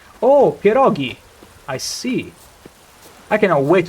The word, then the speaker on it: pierogi: G in perioi is pronounced the same way as G is pronounced in Lago. Oh, perogi.